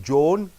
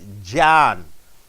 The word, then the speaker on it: John: the topic here John you don't say Joan you say John after Louisville is constant